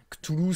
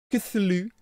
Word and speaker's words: Cthulhu: Je sais qu'en anglais, ils disent pas mal Cthulhu. Genre le TH, ils le prononcent Th. Et du coup, c'est Cthulhu.